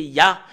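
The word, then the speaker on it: יה: l'écrit Yod he et le fait de de lire le Yod et le he c'est ya en langue hébreu voilà la raison pour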